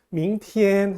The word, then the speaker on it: 明天: 보면은 tn 자가 제일 성으로 나와있는데요 그게 경성으로 발음합니다 전 여기서 지금 1 써 제일 성은 표시하지 않았습니다 밍 티엔 하고 튀는 길게 뽑지 마시고요 밍 캣 기회를